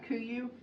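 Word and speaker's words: KUIU: Kuyu? Yeah, Kuyu.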